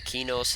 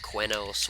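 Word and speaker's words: Qeynos: out here in the kinos hills uh some people pronounce it cuenos whatever i always call it kinos so i'm not gonna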